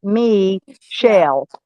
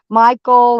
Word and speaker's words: Michelle: it wrong it's michelle she told me it's me shell that's how you say it yeah yeah she told